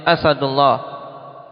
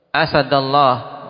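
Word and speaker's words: أسدَ الله: Nah, pada Asad harusnya dengan fathah. Kenapa? Sebagai khabar kana. Nah, wa kana Hamzah bin Abdul Muttalib Asadallah wa asada rasulih wa amma Rasulillah sallallahu alaihi wasallam.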